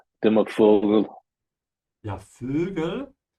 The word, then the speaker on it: Vögel: Yeah, Vögel. You need to flatten your lips to do the umlaut here above the O. Ö. Yeah, like that.